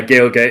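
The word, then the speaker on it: Gaeilge: is at gailgabear uh Gail get is the Irish word for Irish uh that is spelled g-a-e-i-l-g-e then bear like the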